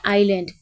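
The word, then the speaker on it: island: बार समझा दूं आपको यह जो है ये पढ़ा जाता है आइलैंड एस इसमें साइलेंट होता है और आइलैंड क्या होता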